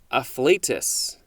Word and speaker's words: afflatus: Next is afflatus. I think that is the correct pronunciation.